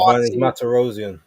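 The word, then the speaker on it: Vanes Martirosyan: And also, rest in peace to is it I can't pronounce his name. Vanis. Oh, Van Matarosian.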